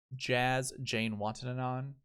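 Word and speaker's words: Jazz Janewattananond: seen him a couple times on YouTube anyways jazz Jane wanted it on that's how you pronounce his name I practiced it's it's perfect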